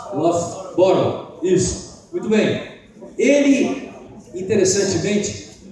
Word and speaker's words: Loughborough: Pronuncia com F. Põe um F aí. Loughborough.